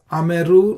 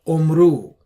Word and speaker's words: Ameru: Similarly, this word is Ameru, not Omru.